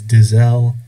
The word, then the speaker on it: Diesel: Quick note on pronunciation, I say Diesel, a lot of other Americans say Diesel. According to my research, the German way of saying this name is Diesel, but I'm just going to say Diesel.